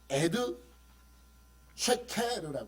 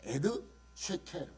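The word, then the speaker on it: עד שקר: 여러분 히브리어로 거짓 증거는 에드 쉐케르 합니다 에드 쉐케르 거꾸로 거꾸로 적어 놨죠 거꾸로 읽는다 그랬어 그래서 일부러 거꾸로 적어놨어요 에드 르라고 읽어요 에드는 증거고 르는 거짓말이에요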